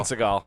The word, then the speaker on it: Seagal: how you jason seagal i've seen him pronounce with seagull before yeah that's a meme he might be trolling because he's like oh my god he's a silly goofy guy it's definitely seagal but seagal is the